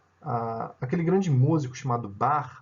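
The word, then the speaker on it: Bach: bastante peculiar né a aquele grande músico chamado bar é o nome é que vende música se escreve com c h b a c h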